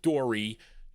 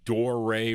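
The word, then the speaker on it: Doré: Not Dory, Doray Records. There's that accent over the E.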